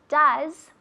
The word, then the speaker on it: does: Does. Como una U en inglés, no en español.